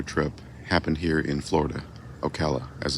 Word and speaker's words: Ocala: Ocala, as it's pronounced, not Ocala, which is the Finnish pronunciation.